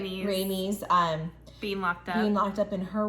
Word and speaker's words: Rhaenys: This leads to, Rhaenys, did I say it right? Rhaenys, being locked up in her room.